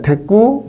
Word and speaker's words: 대구: 대꾸, 맞대을 때자다가 구절 구자 했을 때, 발음은 대꾸가 되죠. 그렇지만, 대구, 이렇게 써야 한다고, 이렇게.